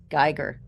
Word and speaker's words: Giger: Is it Giger? Geiger? Right. Geiger.